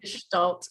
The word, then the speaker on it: Gestalt: Equine Gestalt coaching.